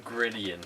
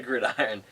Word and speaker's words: Gridiron: I was thinking Gridian for some reason, but it's definitely Gridiron.